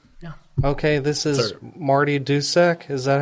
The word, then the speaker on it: Dusek: Okay, this is Marty Dusek.